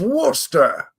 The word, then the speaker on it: Worcester: sh sauce yeah yeah Worster the Earl of wster it's a soft R you say the r but you don't say warer you say wer wor it's a soft It's